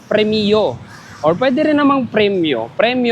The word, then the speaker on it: Premio: billing Ayan so guys correction lang ang pronunciation pala ni premyo ay premio or Pwede rin namang